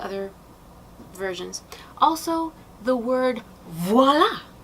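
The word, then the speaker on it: voilà: But it is V-O-I-L-A. Voila, or voila, but definitely not W-A-L-A, even though it may be pronounced that way.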